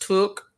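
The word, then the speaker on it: tuque: It's pronounced took, like look. Okay, tooks. Okay. And it's a beanie. Okay. I learned something new. Oh, I see. There's no R in it. Tooks.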